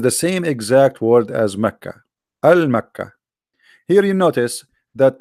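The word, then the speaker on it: مكة: It's the same pronunciation, but in Yemen they say the ka, they make it qa. In Yemen, the letter ka, they pronounce it as qa. So they are writing here the name as a pronunciation, now not as written.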